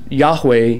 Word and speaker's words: Yahweh: and if you use yahweh yod haid va hey which is the hebrew for yahweh yahweh it's actually these breathing marks sounds they're not really pronunciated letters or other hebrew letters in the alphabet so when they would